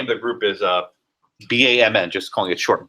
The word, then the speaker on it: BAMN: What happens if there was a group, and the name of the group is BAMN, just calling it short, BAM, that's how they pronounce it.